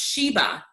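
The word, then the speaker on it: שבע: And so the word seven is Strong's H7651, and it's pronounced Sheba.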